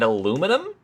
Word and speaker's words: aluminum: And aluminum. Like, where did the eye go?